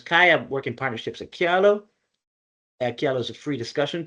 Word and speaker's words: Kialo: Yeah, it's pronounced kialo. Um uh but it can be pronounced however you want and people find all different ways to to pronounce it, but we pronounce it.